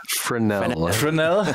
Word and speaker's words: Fresnel: Fresnel. Okay, totally wrongly pronounced.